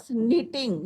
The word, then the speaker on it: knitting: My mother was knitting, यहाँ पे के क्या है बच्चों?